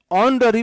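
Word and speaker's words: honorary: ऑनररी post, ऑनररी, इसमें H silent होता है, ऑनररी। एच ओ में जब भी एच के बाद ओ आए तो एच साइलेंट होता है। ऑनेस्ट हुआ, है ना। देखो, एच ओ एन ई एस टी, एच ओ एन ओ आर ए आर वाई, एच ओ यू आर। जब भी एच के बाद ओ आता है तो एच साइलेंट होता है। इसे ऑनेस्ट बोलते हैं, आ। इसे ऑनररी बोलते हैं, इसे आवर बोलते हैं।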